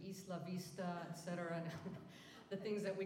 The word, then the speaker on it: Isla Vista: up the pronunciation like Isla Vista should be East LaVista etc the things that